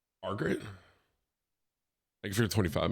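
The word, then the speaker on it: Morgott: It's pronounced Morgot. Margaret?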